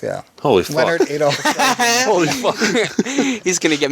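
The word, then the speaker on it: Adolph: spelled with a PH, not an F. Really? And it's Adolf, yeah. Holy fuck. Leonard Adolf.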